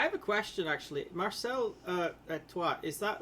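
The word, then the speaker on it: Étoile: It's pronounced Etoile basically.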